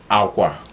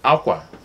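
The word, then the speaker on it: akwa: So aqua, just say like you're saying water in Spanish. Exactly. So like you're saying water in Spanish, aqua, that's cloth.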